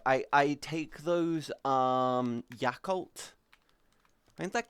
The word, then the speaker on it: Yakult: Yes, because the cult part is to do with the fact that it's a bio culture for your stomach that helps your stomach do this stuff.